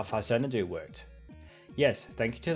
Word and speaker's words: Faxanadu: That's using sprite priorities, like when I explained how Faxanadu worked. Yes, thank you to those comments who corrected me that it's pronounced Faxanadu and not Faxanadu.